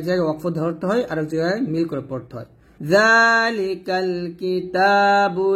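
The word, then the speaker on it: ذلك: জালটা পাতলা করে পড়বেন, জিহ্বার আগা সামনের উপরের 2 দাঁতের আগার সঙ্গে লাগিয়ে জালটা পাতলা করে উচ্চারণ করবেন। যালিকাল কিতাবু লা রাইবা ফীহ, হুদাল লিল মুত্তাকিন।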